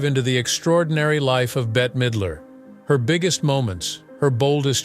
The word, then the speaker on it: Bette Midler: name as Betty while bet Midler's name is pronounced like bet even from a young